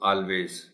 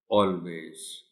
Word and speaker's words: always: को बोलते हुए, तो मुमकिन है वो इसको ऑलवेज कह जाए। सो you will have to tell the children that the correct pronunciation of the word is always, always।